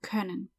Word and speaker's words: können: Anyway, that O with the dots is an umlaut and it's pronounced Ö. So können.